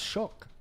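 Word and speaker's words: Shough: But Tyler Shook or Suge, however they say his name, he not getting it done. Sh. No, it's Shook. Suge or something. You actually pronounce that gh.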